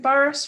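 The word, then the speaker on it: Burrhus: sorry if i'm saying this wrong is it boris frederick yeah well done well done yes oh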